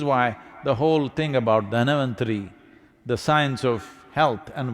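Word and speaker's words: Dhanvantari: It is Dhanavantari's Trayodashi. North Indian people must connect, don't go on clipping away one syllable and come Dhanavantari becomes Dhan, Trayodashi becomes Tera. Don't keep clipping it away So, here we are.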